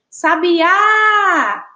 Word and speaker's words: sabiá: Então, quando a gente diz assim, sabiá, sabiá, a gente percebe aí que o A,